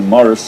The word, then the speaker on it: Maurice: my name incorrectly because my name is spelt Maurice in the French way but my family always called me Morris that people always felt it as Morris the English Way which is mo Double